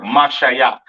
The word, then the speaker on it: Mashiach: spelling for anointed or Mashiach in the Hebrew. You have your Ma, Sha, Ya, and Cha characters. To the left of that is the ancient or the Paleo Hebrew for the word Mashayak, which means anointed.